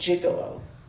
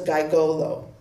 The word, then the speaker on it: gigolo: probably many of you will know it's pronounced jiggalo well when uh my sister and I were on a car trip with my parents um she was six and I was eight we passed a theater Marque Marquee and my uh sister asked my parents what's a gigolo and which of course is a reasonable Assumption of it and um my parents